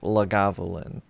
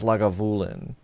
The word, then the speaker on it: Lagavulin: I was told that I was um mispronouncing it when I said lagavulin. So, sorry, it's lagulin, which is not really a misprononunciation. It's just putting the emphasis on the wrong sal.